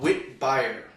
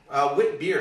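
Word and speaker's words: Witbier: Mother Ship Wit is a new Belgian beer, and it's part of a type of beer called Wit beer. Wit beer, excuse me.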